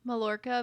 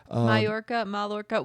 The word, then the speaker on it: Mallorca: The double L's throw me. They make a Y. Mallorca village. Yeah. Mallorca.